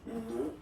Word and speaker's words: nous: Okay, so remember, even if you get this final S, you don't pronounce it, as it was the case already for this word, nous, you don't pronounce the final S, vous, you don't pronounce it, leur.